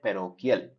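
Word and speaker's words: parochial: ठीक, इसकी प्रोनाउंसिएशन आप यहाँ से चेक कर सकते हैं, वैसे इसकी प्रोनाउंसिएशन होती है पैरोकियल।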